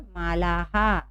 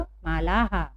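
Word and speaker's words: मालाः: तिस्रः। और मालाहा, तिस्रः मालाहा, तिस्रः मालाहा।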